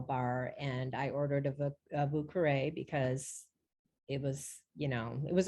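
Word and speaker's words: Vieux Carré: As far as the vouqueré is how they pronounce it down there.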